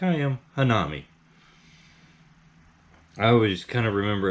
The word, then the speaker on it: hanami: it like i am hanami i always kind of remember it like this uh the han is almost like the han solo from star wars nam is like nom nom nom need them